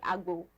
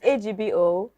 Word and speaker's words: Agbo: correctly but that's okay it's agbo and I'm from Ben Ray so you know what it means if you're from benue yeah that's how star do